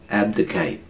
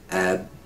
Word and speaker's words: abdicate: Abdicate. Abdicate. Not Kate. Kate. Just ends on the Abdication.